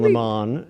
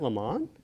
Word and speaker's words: Lemon: fired but because Don Lemon is who he is is it Le Mans no it's lemon but he that he